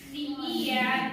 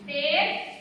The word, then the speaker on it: tear: Spelling same, but the pronunciation of the word is different.